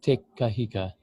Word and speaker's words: Te Kahika: so thank you for that welcome it's Billy tikka Heka thank yous Hey look you're a celebrated musician